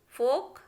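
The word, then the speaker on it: folk: A के बाद आया है तो उसको हमें प्रोनाउंस नहीं करना है। तो काफ, half, palm, would, should, could, फोक, योक, इस तरीके से पढ़ना है बच्चों।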